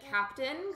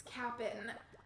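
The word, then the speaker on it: Kapp'n: animal crossing i would always call him the captain i didn't realize that that was not the right way to pronounce it and so i was streaming one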